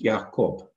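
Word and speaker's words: יעקב: Jacob in Hebrew is Yaakov. To wrestle in Hebrew is pronounced Yaabach.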